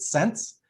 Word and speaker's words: SCNC: them is the sense it's spelled scnc but i pronounce it sense because it's really about